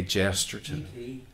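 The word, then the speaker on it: Chesterton: it what's the point k g jesterson i can never say his name j k jesterton yes that's it i have the same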